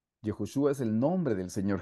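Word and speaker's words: יהושע: de strong strong hermanos en hebreo Josué se dice jehoshua jehoshua es el nombre del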